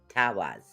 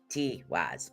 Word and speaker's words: Tiwaz: It's actually pronounced Tawaz, is what it is. And I know it looks like Tiwaz, but it's not. It's Tawaz.